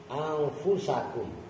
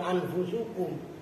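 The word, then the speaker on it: أنفسكم: Allah Taala alikum anus Awas bacanya Salah lagi alaikum anfusakum itu anfusakum bukan anfusukum makah kan kalau lu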